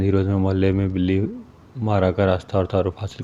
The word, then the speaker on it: بلی ماراں: متبسم ہو کر بولے، دلی کا ایک محلہ ہے، اس کا نام بلی مارا تھا، ذرا تلفظ درست کیجیے۔ یہ بلی مارا اور